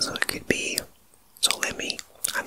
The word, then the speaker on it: Ptolemy: is spelled Ptolemy, and perhaps the P is silent, so it could be Ptolemy.